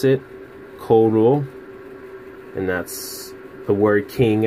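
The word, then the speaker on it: король: you have King in Russian that's how you pronounce it coal rule and that's a word King and Russian and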